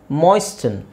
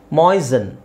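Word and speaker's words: moisten: ಅಂತಾನೂ ಯೂಸ್ ಮಾಡ್ತಾರೆ okay ಮಾಯಿಸ್ಟನ್ ಮೊಯ್ಸನ್ ಮೊಯ್ಸನ್ ಮೊಯಿಸನ್ ಸೊ T silent so ಮೊಯಿಶ್ಚರೈಸರ್ ಅದೇ ತರ ಮೊಯ್ಸನ್ ಮೊಯಿಸ್ಟನ್ ಅಂತ ಹೇಳಲ್ಲ ಮೊಯ್ಸನ್ ಇಲ್ನೋಡಿ ಮಾಗಿ ಇಲ್ಲಿ ಆರ್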